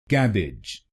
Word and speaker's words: cabbage: then it will become cabbage cabbage cab edge cab edge cabbage cabbage and in this word you have to put stress on the first syllable i.e.